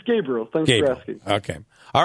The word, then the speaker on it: Gabriel: How do I pronounce it? It's Gabriel.